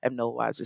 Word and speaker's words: Nolwazi: Nolwazi. Nolwazi, Yes. Nolwazi. Yeah. I'll tell you a little story about me pronouncing South African names in a second.